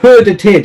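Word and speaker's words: skördetid: say um so yeah herder tied is probably the most like um unexpected pronunciation for uh for the native brits here at least because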